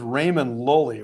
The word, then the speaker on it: Raymond Lully: It's anglicized as Raymond Lully, which would suck, man, if your name was Ramon. So the double L in Spanish is a y sound, but he's got